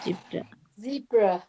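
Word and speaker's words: Zebra: না, জিব্রা, জিব্রা, এটা বলতে হবে জিব্রা। জিব্রা, জিব্রা, জিব্রা, জিব্রা, বাংলায় জেব্রা। জিব্রা, জিব্রা, জেব্রা। জেব্রা, জিব্রা না, এটা জিব্রা, জেব্রা। উচ্চারণটা হবে যা দিয়ে, জি, জিব্রা। জি, জেব্রা।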